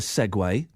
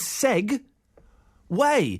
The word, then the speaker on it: segue: I only just recently discovered that segue is spelled S E G U E, not S E G U E W A Y. I I thought that was Seg Way. How on earth does the UE make?